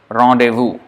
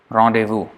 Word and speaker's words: rendezvous: know a background okay this is coming from the French language and then it is to be pronounced as rendezvous rendezvous so you not know